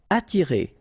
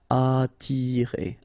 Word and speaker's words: attirer: Attirer, okay? Don't pronounce the double T. You only pronounce this. Attirer, attirer.